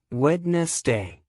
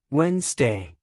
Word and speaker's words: Wednesday: correct comfortable Wednesday wrong wedness day correct Wednesday explanation the middle D is silent in casual speech Dessert versus desert dessert